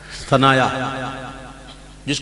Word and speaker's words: ثنایا: آنکھ سے نہیں ہوتا۔ یہ ہے عربی والا ثنایا، جس کو سنایا بھی کہتے ہیں، لیکن اصل تلفظ ثنایا ہے۔ المنجد میں دیکھ